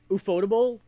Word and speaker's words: Ufotable: But honestly, Ufotable, aka UFO table, which is apparently how you pronounce it, but that's a dumb word, so I'm not gonna say it like that.